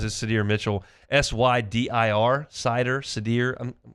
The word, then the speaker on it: Sydir: S-Y-D-I-R, Sydir. I think I'm going to go with Sydir Mitchell.